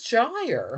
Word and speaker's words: gyre: Make the G hard in gyre and gimble.